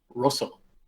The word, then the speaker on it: Rosso: Ultraman Rosso, which is it's Rosso. Rosso. With 2 S's.